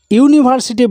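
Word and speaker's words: university: ইউনিভার্সিটি বানানে যদিও এখানে vowel রয়েছে, কিন্তু উচ্চারণ করতে গিয়ে তার ধ্বনিটা আসছে ইউনিভার্সিটি, ইউ এর মতো, অর্থাৎ ইউর মতো যদি উচ্চারণ হয় তাহলে তার আগে বসবে এ, তাই এখানে বসবে এ।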